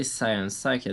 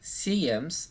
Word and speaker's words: Cyems: In the Old, the Y pronunciates E, like a French E, like double E in English, if you want.